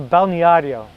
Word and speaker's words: balneário: Another day, we went to the balneario.